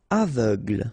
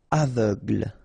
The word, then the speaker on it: aveugle: Aveugle. Same thing. Final e, not really present. So aveugle. Gle. Aveugle.